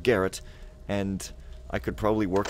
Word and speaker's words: Garrett: to eat more carrots carrot rhymes with Garrett and I could probably